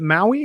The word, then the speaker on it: MAUI: And is it Maui? Is that how you pronounce it? Or am I pronouncing it? That's right. Yes. So just like the island, right?